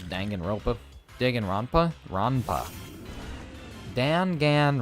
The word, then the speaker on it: Danganronpa: what that is oh I didn't even say it right this Danganronpa digging ronpa ronpa Dan